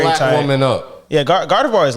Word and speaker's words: Gardevoir: Tap your hip to the syllables. It's GARDEVOI.